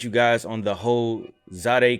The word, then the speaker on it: Zadeh: guys on the whole zod a kicks i just found out that's how you say it zade kicks uh fiasco